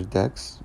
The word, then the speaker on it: deque: video I'll go over decks which are double ended cues they are pronounced like this and I'll go over